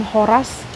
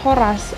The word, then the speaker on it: Horas: berbeda oleh penuturnya seperti ketika penekanan dalam penyebutannya yang terletak pada huruf a dengan bunyi vokal yang diucapkan lebih tinggi dibandingkan huruf vokal lainnya yakni Al maka berarti selamat Hai namun jika penekanan ungkapan Horas ada pada huruf vokal a maka maknanya akan berbeda menjadi sebuah harapan atau permohonan Hai